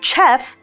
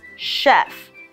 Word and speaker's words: chef: Chef is from France we see the CH letter again but it's a very different sound it's not Chef it's Chef an sh sound so to help you